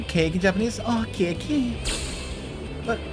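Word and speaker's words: ケーキ: Oh, keki.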